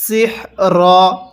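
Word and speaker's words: سحر: তাহলে ইউআল্লিমুনান নাসাস সিহর। এখন যদি আমরা এখানে ওয়াকফ করি তাহলে সিহর, রটা হালকা উচ্চারণ করব, হাটা পরিপূর্ণ উচ্চারণ করব।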